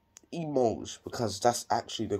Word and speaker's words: mangent: Even though E, I-L-S, or L, E-L-L-E-S, are plural and have the E-N-T ending, it is silent.